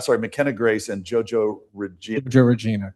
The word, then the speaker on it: JoJo Regina: And the performances that you got, and I hope I'm going to pronounce the names correctly, McKenzie Grace. McKenna Grace. McKenna Grace and JoJo Regina. JoJo Regina, correct. JoJo Regina.